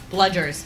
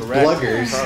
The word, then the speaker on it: Bludger: Bludgers. That's correct. Okay, good. I threw the D in there. Yeah. I was like, I don't want to make it seem like it's bluggers.